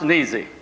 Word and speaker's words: Nesius: this is john joseph nesius and and in jasper county it's pronounced and easy but it was spelled when